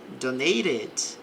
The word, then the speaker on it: donated: Posso pronunciar o T com som de R ou som de T, não tem problema.